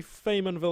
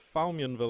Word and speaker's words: Faymonville: and will approach one which i can now finally pronounce correctly after many months of calling it farm what I used to call it foul Mian will approach or something I used to just add an L sound into there for some reason